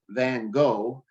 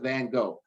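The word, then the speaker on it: Van Gogh: schools I work with Van go which by the way the pronunciation really is fan so we just call it van go van go no wood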